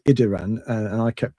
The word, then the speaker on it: Idiran: incorrectly cuz I insert I inserted an L where there is no L. And it's it's Idiran and I kept pronouncing it as Ildiran cuz I cuz that's how I read it for 30 years.